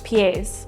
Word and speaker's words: pies: So this is kind of spelled like pie in English. So maybe a fun way to remember this is that on each foot you have 2 pies, but it's pronounced pies.